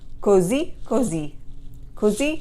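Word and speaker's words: così: are just okay so so you're going to say cozy cozy because there's an accent on the last i in both of those words so you need to rise up at the end so if somebody asks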